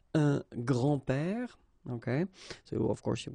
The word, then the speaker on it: grands-pères: Okay, so it's not really difficult, and especially if you think about that, you don't pronounce this s, so actually phonetically it's the same, grand-père here and grand-père here.